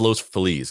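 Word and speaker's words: Los Feliz: Angeles it's pronounced as Los felis it should be pronounced as Los fiz that's how you say it in Spanish but they they call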